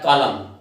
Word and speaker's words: column: और next word हमारा आता है कॉलम, COLUMN। इसमें जो प्रॉब्लम आती है M और N की होती है, कि कहाँ M और कहाँ N होता है। N इसमें साइलेंट होता है, इसलिए जो है इसको